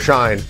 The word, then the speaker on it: Schein: He's number 9 on the Schein 9. I mean, it's 9, not 8. My last name rhymes with 9. That's why we do a Schein 9.